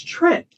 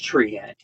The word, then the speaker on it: Treant: Well, it's Trent. It's Trents. But, it means treant. You see, I've only ever pronounced it as treant. Well, you can, but there's only one E in it. Yeah. So it's Trent.